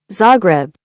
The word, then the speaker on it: Zagreb: Zagreb. Zagreb.